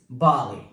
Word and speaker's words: ballet: Number next is ballet.